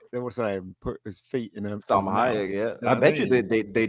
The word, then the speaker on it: Salma Hayek: So Elmer Sayak, if I can pronounce her name properly. Salma Kayak. That's Salma well. Hayek. Yes. Salma Hayek.